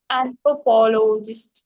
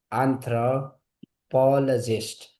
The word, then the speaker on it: anthropologist: So we call it anthrop anthropologist. Anthropologist. Anthropologist. Yes. Okay. We don't never say loy.